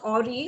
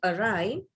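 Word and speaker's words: awry: It is not Ori, although 9 out of 10 would pronounce it as Ori. It is actually Arai, A and W-R-Y. So you have that Arai.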